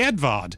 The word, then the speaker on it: Edward: I can't think, well, like Edvard, it's just Edward in English, but they say Edvard, and that's just weirdly refreshing, you know?